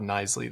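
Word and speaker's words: Knisley: Uh Nisley, he told us, I believe. Todd Nisley. The K is silent.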